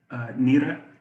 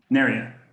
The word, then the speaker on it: Neria: Nira, did I pronounce that right? Nira, Oh, Neria? Neria.